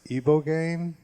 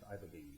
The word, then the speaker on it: ibogaine: And I think the name of the drug is Ibogaine, and it's illegal here, but it's legal in Mexico and Canada.